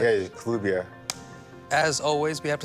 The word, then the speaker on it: Kelubia: Kelubia. Yes. I'm pronouncing it right. Yeah, Kelubia.